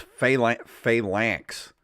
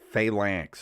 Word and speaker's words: Phalanx: It's Phalanx. Phalanx is how it's pronounced.